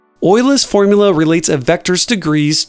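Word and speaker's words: Euler's: We need to apply Oila's formula. Yes, it is pronounced nothing like it's spelled. Ola's formula relates a vector's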